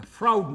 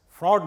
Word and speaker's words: Froude: that this is the froude number or f r do not do not pronounce it as fraud number is called froude number ok and this is